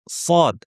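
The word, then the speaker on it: صاد: সদ হরফটি আমাদের বাংলা ভাষাভাষীদের জন্য অনেক সময় কঠিন হতে পারে। আমরা যদি সদকে সঠিকভাবে উচ্চারণ করতে চাই তাহলে আমাদেরকে এর উচ্চারণের স্থান এবং বৈশিষ্ট্য সম্পর্কে খেয়াল রাখতে হবে। এবং সদ শেখার জন্য আমরা আরেকটা হরফকে নিয়ে আসবো। সেটা হচ্ছে সিন। তার কারণ হচ্ছে দুটির উচ্চারণের স্থান একই। সিনকে একটু মডিফাই করে নিলেই আমরা সদ পেয়ে যাব।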